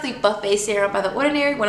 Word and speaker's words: Buffet: the ordinary buffett buffet serum i like to pronounce it buff it because it's like i also think it's buffing my skin but it's pronounced the buffet serum by the ordinary one of my favorites